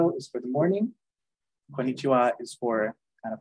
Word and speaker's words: konnichiwa: means hello basically and the wa is a particle that kind of stuck into that and even though it's written differently keeps that sound so konichiwa Ohio is for the morning konnichiwa is for kind of